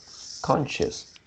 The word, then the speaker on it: conscious: Uh, conscious. Yeah. Just now you pronounce like conscious. So the second syllable is pronounced as shis.